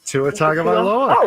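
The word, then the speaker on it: Tua Tagovailoa: It's like a Talia or Tua Tua Tagaloa.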